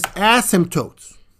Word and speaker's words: asymptotes: to by word uh and the word is ASM tootes what what did he just say what did